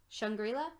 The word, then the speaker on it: Shangri-La: so the that music video how do you pronounce it shangri-la shangri-la okay that was my first one too because